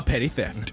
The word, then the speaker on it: Petty Theft: A petty theft. That is how it's pronounced. 2 P's at the beginning, 2 T's at the end.